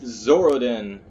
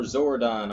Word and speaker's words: Zoradin: Republic Sith Warrior Edition with Zoradin, or Zoradon, or however you want to pronounce it. I just say Zoradin, because it's fast, it's fun, and fuck it.